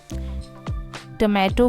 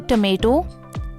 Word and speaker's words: tomato: टमाटो को American English में हम बोलते हैं टमेटो, टमेटो। And British English में बोलते हैं टमाटो, टमाटो।